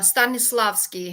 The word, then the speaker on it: Stanislavski: Yeah, so I posted the Stanislavski, actually.